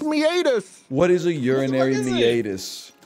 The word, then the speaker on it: meatus: a lot what urinary meus is real what the is the urinary meus man it's meatus it's pronounced meatus what is a urinary